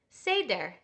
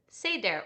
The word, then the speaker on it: Seder: word for order is Seder can you say that say dare or said they're depending on how you pronounce that vowel and we have a